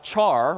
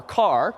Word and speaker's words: char: We know from Wednesday, if briefly, that there's this thing called a char, or car, depending on how you want to pronounce it, which is just a single character.